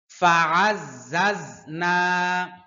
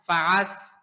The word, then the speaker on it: فعززنا: ফাআজ্জাজনা, অনেকে ঝা উচ্চারণ করতে গিয়ে সিনের মতো উচ্চারণ করে, ফাআজ, ফাআস, ফাআস বলে, সম্পূর্ণ ভুল।